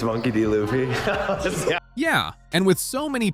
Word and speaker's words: Monkey D. Luffy: It's Monkey D. Luffy.